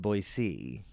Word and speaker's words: Boise: Boyisey or Boise? Uh I think it's they want it to be pronounced Boisey.